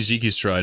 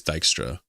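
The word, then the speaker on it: Dijkstra: I was saying Jikistra and people say it's Dystra.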